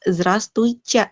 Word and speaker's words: Здравствуйте: Ini huruf Y. Dan ketika T ketemu sama Y, dibacanya kan C. Jadi Здравствуйте. Здравствуйте. Yang ini ditekankan nih. Здравствуйте.